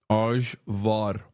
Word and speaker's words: Ajvar: And for the chatters correcting me on the pronunciation, I don't give a fuck. That's how you say it in Turkish. Ajvar.